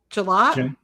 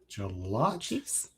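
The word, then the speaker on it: Gillotte: Ashton Gelot. Galot.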